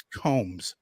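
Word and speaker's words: Coombs: me Maran Angus comes ignore that second o that's exactly right there's only you see two o's in her last name but you only pronounce one of them Marin Angus Combs so um we've addressed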